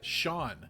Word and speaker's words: Sean: guys could go on like Sheamus it's cuz it's spelled seasons yep Sean s EAN it's all so